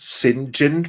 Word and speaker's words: St John: this kind of like when you have St John and it's pronounced sinin from some weird reason